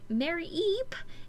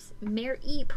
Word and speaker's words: Mareep: Night 2, Mareep. Why can I not say her name right? Mareep. It's Mareep, not Mareep. Mareep.